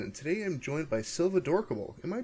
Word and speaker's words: Silvadorkable: name is fresman and today i'm joined by silva dorkable am i pronouncing that right yes you are fantastic how